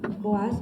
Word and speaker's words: Boaz: C'est juste la prononciation Boaz, Boaz.